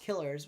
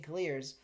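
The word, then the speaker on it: Kiileerrz: remember in the video he said it's pronounced Killers so I don't know why everyone's saying clears but if you want to say clears I guess it's fine so I'll say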